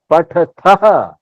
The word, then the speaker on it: पठः: दोनों पढ़ते हो पठः अगर ये बिंदी नहीं होता विसर्ग नहीं होता तो हम इसका उच्चारण कैसे करेंगे ेंगे पठत पठ पठ पठ आ लगेगा सिर्फ आ हा हां और अगर बिंदी हो गया है तो क्या लगा के साथ ह लग जाएगा अहा पठः ठीक है अंतर देख रहे हैं ना उच्चारण में अब लिख लिख में